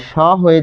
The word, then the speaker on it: সহ্য: যেহেতু এখানে জফলা রয়েছে দন্ত স এর পরে, তাই স হয়ে যাবে সো। এরপর দেখুন এই হ এর সাথে জফলা থাকার কারণে বর্গীয় জ আর ঝ, অর্থাৎ এটা।